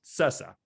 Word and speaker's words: Sassa: all with uh cesa i mean spelt sassa i believe but pronounced cesa am i am i right with that one something yeah yeah something